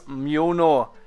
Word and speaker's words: Mjölnir: It's Mjölnir.